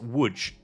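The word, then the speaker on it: Łódź: Um, which apparently, by the way, this is pronounced wood. I was calling it Lods for like a couple of months, but apparently this is wood.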